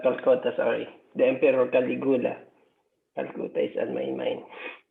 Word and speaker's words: Caligula: The Emperor Caligula. Calcutta is on my mind. Caligula, sorry, sir. Yeah, okay. Yeah. I would pronounce that Caligula, but Caligula.